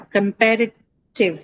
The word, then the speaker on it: comparative: So where are you going to mark it? This is easy. Pair. Pair. It's on pair.